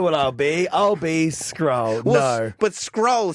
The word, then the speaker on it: Scurll: Like, it's not Scurll. No, it's Scurll. It rhymes with like a bicep curl or a girl. Curl with an S in front of it.